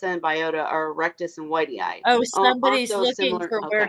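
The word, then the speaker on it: whitei: ask another question there why you pronounce it Whitey ey I look at it and it says white eye I don't I've always heard it said Whitey ey I don't know I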